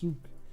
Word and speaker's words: Zuk: I think it's not Zuck. It's Zuk. But I think a lot of people call him Zuck.